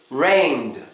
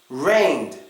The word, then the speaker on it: rained: Le or rabed is best to pretend as if that e isn't even there pretend it's not there